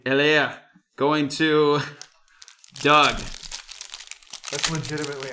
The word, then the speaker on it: Helaire: Go the full French R. Make it sound like you're, hawking a loogie. Helaire going to Doug.